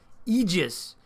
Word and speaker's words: aegis: name of solstice next yes aegis is the right way to pronounce it i looked up the phonetic spelling in the dictionary because i'm dorky that